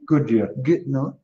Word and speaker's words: Goodyear: Is that Goody? Goodyear. Goodyear. Yeah, Goodyear. Hi there, Heather.